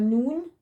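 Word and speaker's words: נ: Then we got noon, sounds as n.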